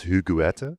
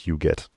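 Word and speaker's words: Huguette: Huget. It's a it's a French name. I I mispronounced it earlier as Hugueta. I thought that was how you pronounced it, but uh apparently you pronounced as Hugette.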